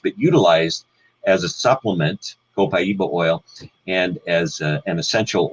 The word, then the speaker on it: copaiba: know of it and you pronounce it different ways copaiba co Kaiba you know there's many different ways that if we do it correctly from South American Spanish it would be copaiba and interestingly enough I